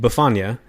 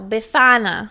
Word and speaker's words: Befana: So they've got this witch named Befana. No, Befana. Befana, okay. The day they will pronounce that name right.